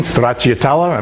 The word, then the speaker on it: stracciatella: Secondly, after that, we're going to do a stracciatella, and that's the correct pronunciation in Italian, stracciatella.